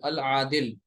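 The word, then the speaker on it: العادل: अत्तय्यिब, अज़्ज़ालिम, अल आदिल, यहाँ से अब ये अल आदिल, यहाँ लाम आप प्रोनाउंस कर रहे हैं, यानी ये कमरी हर्फ है आइन।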